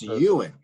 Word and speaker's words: Ewan: skipping the why part Ewing and I was pronouncing it Ilyn but you and it's Ewan Ewan Ewan McGregor and McGregor yes it's good